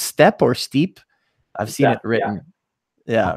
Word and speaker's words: steppe: know being from the eurasian is the word pronounced step or steep i've seen it written yeah from the eurasian step uh i spent five and a half years